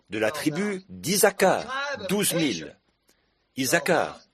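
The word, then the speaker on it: Issacar: la tribu d'isaka 12000 isakar ça doit être comme ça que ça se prononce 12000 la tribu de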